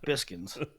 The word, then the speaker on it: Biskins: I hate that it's pronounced Biskins. I would have never. Biskins. Like, how am I? I don't listen. These people that I think it's funny at times. Like, listen, I'm not the best pronunciator of names, especially the ones I've never heard. I would have never looked at that word and pronounced it like that.